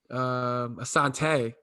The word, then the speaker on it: Assante: Assante, actually, right?